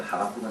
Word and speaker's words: 하박국: 오늘 우리는 하박국 선지서를 읽어보려고 합니다. 하박국이라는 말은 원래 이 사람 이름이죠. 하박국은 사람 이름입니다.